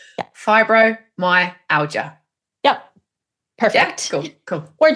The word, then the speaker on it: fibromyalgia: how to pronounce it I'd break it up to say fibro my aler or my aler my Alia fibro my Alia yep perfect cool cool